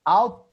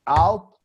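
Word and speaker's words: ought: to observe the pronunciation out to you don't pronounce the gh out - okay now Marcela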